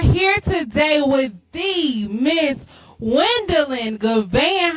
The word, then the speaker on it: Juandalynn: Not Tammy Lynn, but Juandalynn.